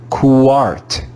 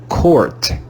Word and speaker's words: court: this word, we would read this word as QUART, QUART, QUART, and that would be wrong. In English, this word is read as court, court, court. The letter U is silent.